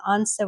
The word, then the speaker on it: answer: And W before an R, like right or wrong, often an S. Sometimes, not always, here sword and answer, we don't say the W.